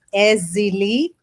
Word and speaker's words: Èzili: for the people my sister so i won't mispronounce your name no problem no problem thank you for everyone my name is ezzy lee ezzili beautiful name and you broke it down